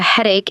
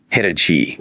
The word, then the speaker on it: headache: But the end, A-C-H-E, is that cheese sound. Like cheese. Head-a-chee. Nope. This is another tricky English spelling. The chi here actually sounds like a K. A K. Like cake. Exactly like cake. It sounds like act cake.